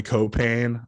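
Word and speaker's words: Caupain: Another Lakeland guard who is playing overseas now, Troy Copain. I just loved being able to put that emphasis on that middle syllable, really like punch it home.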